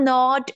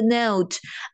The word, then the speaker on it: note: It's not a nod, it's a note.